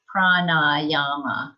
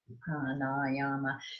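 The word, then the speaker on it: prāṇāyāma: It's a long A and the N, prana. And is that second one long? Yeah, prana. Oh, and the last one wasn't. It's not.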